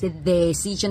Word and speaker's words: decision: make a la decision Recuerda la d en inglés no se pronuncia igual que en español chingada madre no es decision es d d de de de de de decision make a decision make a decision ves